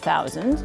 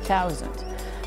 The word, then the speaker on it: thousand: So for instance you're not supposed to say 'thousand', you say 'tou sand'.